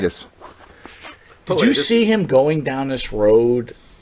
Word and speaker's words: Pilatus: But the bigger question I have for you is, and I want to make sure I was pronouncing his name right. Rob Pilatus? Is that right? Pilatus.